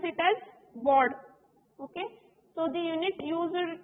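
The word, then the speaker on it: baud: used to measure signal rate is Bard we pronounce it as Bard okay so the unit used to measure is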